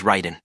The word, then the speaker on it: Raiden: simple huh you know for the AI to correctly pronounce my name you have to spell it as Ryden r i g HDE